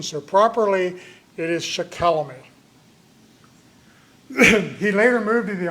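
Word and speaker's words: Shikellamy: Um his father was Shaquelamy who lived at Shimoken and that is the correct pronunciation. For all these years it was thought to be Shakalemi but some recent research in the Conrad Wiser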